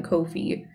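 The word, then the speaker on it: Ko-fi: the host um oh it says kofi rhymes with no fee on their twitter page oh so i guess that is the correct pronunciation then kofi no fee okay nearly done my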